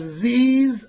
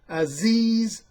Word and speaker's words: Aziz: his name is Mike mispronounces name as Zee's I'm sorry Aziz Ansari Aziz Ansari I